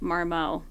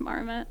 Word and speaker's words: Marmot: I um when I was uh when I first heard of the brand Marmet, I pronounced it Marmo, which was embarrassing.